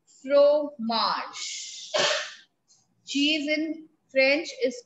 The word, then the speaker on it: fromage: what what cheese is called cheese is called f-r-o-m-a-g-e fro marsh cheese in french is called fromage now there